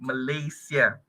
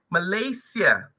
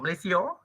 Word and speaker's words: Malaysia: as the latest aong okay of our country Malaysia okay one thing okay it's um okay one